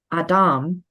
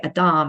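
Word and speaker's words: אדם: first human being the Adam and I'm putting the emphasis on the last syllable because that's how it's pronounced in Hebrew plus it helps to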